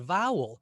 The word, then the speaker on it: vowel: Then deliberately stress the second syllable. Vowel. Vowel sounds a little strange. Vowel is what we say. Ah, now we can become aware that it's the first syllable, vowel, that's getting the emphasis.